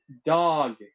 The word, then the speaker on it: Dag: norwegians called dag dog it's pronounced dog which is pretty funny